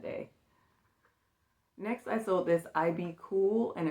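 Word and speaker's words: IBKUL: Next, I sold this IB cool and it's spelled I B K U L.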